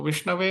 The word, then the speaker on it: विष्णवे: व्याकरण के बारे में वो विषाणय बोलते हैं जो कि गलत है और धीरो वति विष्णवे जो थोड़ा बुद्धिमान लोग हैं जिन्होंने थोड़ा बहुत संस्कृत पढ़ लिया है वो सही उच्चारण करते हो विष्णवे नमः बोलते हैं तो एक ने